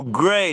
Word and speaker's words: Gray: Oh, Gray, not Gary. I did pronounce that wrong.